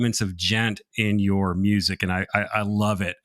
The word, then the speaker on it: djent: Djent is spelled Djent. Yeah, so it's like djent, but so if my general thought is if you try to pronounce the D, you'd get a djent rhythm, right?